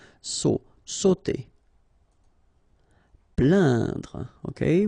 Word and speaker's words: plaindre: Plaindre. Okay, when you combine this A-I-N, you will get the sound un. So really, this nasal sound in your nose. Plaindre.